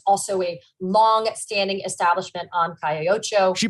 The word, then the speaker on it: Calle Ocho: The owners of Ball and Chain also own another establishment called Taquerias El Mexicano, which is also a long-standing establishment on Calle Ocho. She pronounced that right, didn't she?